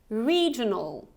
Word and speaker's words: regional: Regional. Regional. So here you actually have this long E. So it's not re, it's re. You're smiling. Regional. Regional. Okay, not regional. Okay, regional. Regional.